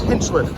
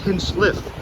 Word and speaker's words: Hinchliffe: It's Hinchliff. I I think I say it wrong all the time, but it's Hinch Lift. And when we uh get inside, I will talk about more with that. Not Hinch Lift.